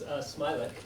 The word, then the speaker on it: Smialek: Um, it's Smileik. Smile. As though there's no A.